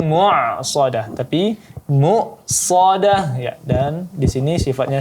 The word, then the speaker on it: مؤصدة: Ya, kemudian alaihim muqsadah. Nah, di sini hamzah yang sukun, bukan huruf ain ya, maka di sini ditekankan bunyi hamzahnya yang sukun. Muqsadah, bukan mu'sadah, tapi muqsadah ya, dan di sini sifatnya syiddah, maka sedikit ditekan.